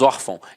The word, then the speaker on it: órfão: não é o caso nós falamos órfão então a sílaba tônica está na penúltima e é acento é